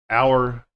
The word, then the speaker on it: hour: So we have air, honor, hour, ghost, what, when, where, why, while, weather, white, rhythm. So these are silent H.